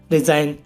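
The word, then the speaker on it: resign: से पहले जी आया हुआ है तो जी साइलेंट है हमारा इसमें ऐसी और भी एग्जांपल है गाइस रिजाइन रिजाइन माने त्याग देना साइन साइन माने तो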